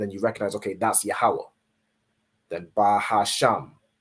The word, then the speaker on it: Yahweh: So you're not saying like Yehovah or however the oppressor would pronounce it. However they pronounce it with their Yiddish. You convert it into the ancient Hebrew. So you're saying Yahweh.